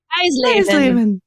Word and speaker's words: Eisleben: Eisleben. You're right. Everyone can call out my terrible German pronunciation today.